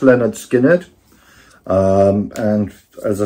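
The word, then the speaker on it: Lynyrd Skynyrd: Yes, so this is pronounced Leonard Skinner.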